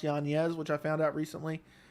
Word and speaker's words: Yanez: fight that's a great idea unfortunately i like yonez is not his name is pronounced yanez which i found out recently i would go